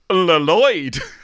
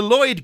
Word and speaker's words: Lloyd: her breakup with Lloyd which is a joke which runs throughout this entire episode that he's called Lloyd but they pronounce the two L's and they do bring